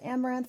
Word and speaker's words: Amouranth: hey guys i'm caitlin i am pronounced amaranth for my stream name